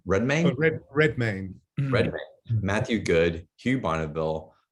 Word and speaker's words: Redmayne: such as eddie howard pronounced eddie's last name redman redmayne matthew good hugh